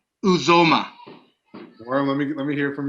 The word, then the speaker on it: Uzomah: Uzomah. Worm, let me hear from you. Uzomah. It's Uzomah.